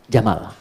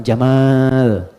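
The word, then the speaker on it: جمل: Jamal saya notice ya pendek bacanya Jamal bukan Jamal jamalun unta Jamal ganteng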